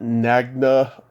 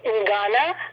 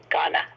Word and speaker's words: Ngana: do you pronounce it, Nagna in South Pacific? It's actually Ngana. Ghana. Yeah, it's a funny word, isn't it? Ngana. Yeah. I think the N is silent. It's Ghana.